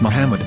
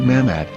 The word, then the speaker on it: Muhammad: Ben yehuda's Hebrew English dictionary it is correctly pronounced as Muhammad not mammad here is the famous sdl translation tool which